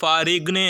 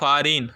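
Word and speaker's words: foreign: பேட் அப்ப பாரின் பாரின் இந்த இடத்துல பாரிக்னு அப்படின்னு சொல்லிட்டு சொல்லக்கூடாது ஃபாரிக்னு அப்படின்னு சொல்லக்கூடாது ஜி என்னதும்மா சைலெண்ட் சோ அப்ப நம்ம என்ன சொல்லணும் ஃபாரின் மிடில் மிடில்ல உள்ள அந்த ஜி என்னது சைலெண்ட்ல இருக்கு சோ ஃபாரின் சோ நெக்ஸ்ட் பாருங்க சைலெண்ட் லெட்டர்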